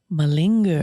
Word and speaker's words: malinger: of the day is mullinger is how you say it malinger malinger that means and it